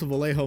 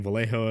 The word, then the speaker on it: Vallejo: This has bugged me since some asshole came in my stream a year ago saying Vallejo is pronounced Vallejo since they are in Spain. Motherfucker, they were originally based in New Jersey. I will call it Vallejo or Vallejo just to fucking spite you.